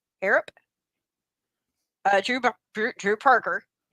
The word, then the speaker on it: Harrop: Uh Jack Horro. Harrop. Spell it. H A R R O P. Harrap. Harrap.